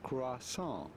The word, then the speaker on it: croissant: It'd be fine if you cannot pronounce the French R to say croissant.